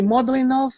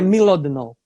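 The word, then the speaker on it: Mlodinow: Livros, Subliminar, do Landon, eu chamo de Modlinov, mas eu já ouvi a Inês falar, eu acredito que pode ser a pronúncia certa, que é Milodinov.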